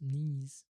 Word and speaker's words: knees: Remember when the S ending follows a vowel like A I or U, it's always pronounced as the voiced Z sound. That's why the words knees, oh, knees, and niece,